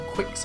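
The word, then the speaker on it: Qix: Obviously Space Invaders, Kicks, which I quite like, or Quicks, how it's pronounced.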